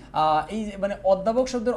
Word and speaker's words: অধ্যাপক: এই মানে অধ্যাপক শব্দের ও এর উচ্চারণটা কি সংবৃত না বিবৃত?